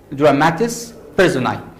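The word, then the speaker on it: dramatis personae: of drum the first term we have is dramatis persunai the term again is pronounced as dramatis personai it means that it has a latin origin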